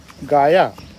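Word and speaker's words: Gaia: प्यारा शब्द है अंग्रेजी में गाया कहीं कहीं पर इसको गिया भी प्रोनाउंस किया जाता है इसका अर्थ है धरती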